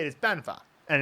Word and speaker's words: 办法: principle here is that this character should be pronounced 办法, right? So like fourth tone, third tone, but they're just kind of going 办法, and it's not really a full third tone.